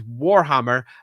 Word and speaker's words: Warhammer: But do be aware this is Warhammer. And I will stress the first syllable of that war.